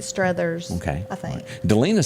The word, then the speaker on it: Struthers: not sally strothers okay do you pronounce it struthers or strutters struthers i think streathers okay i think delena